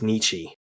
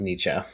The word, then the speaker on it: Nietzsche: uh I would have bet his name was Nichi and I feel like I've been mispronouncing it all this time. Yeah. Um, Sheldon pronounces it Nichzche. And then I looked it up and it's pronounced Nietze.